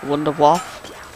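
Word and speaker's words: Wunderwaffe: No, they don't actually, because this is Germany, they pronounce it as Wunderwaff. Like a V instead of a W.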